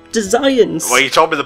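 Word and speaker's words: Desians: I've told you the pronunciation, Tom. It's Designs.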